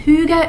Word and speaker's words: hygge: like i said i'll link everything below and hyuga is ever i think you guys have heard of it maybe or it's spelled h y g g e and it's